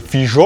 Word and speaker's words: fijo: Les lettres X et J sont donc prononcées comme en vieux castillan, comme en portugais aujourd'hui d'ailleurs, à savoir che, je ou dje. On a par exemple fijo en judaismo et pas hiro.